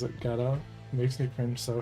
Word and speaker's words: Godot: There's a popular Godot YouTube channel that pronounces it Godot.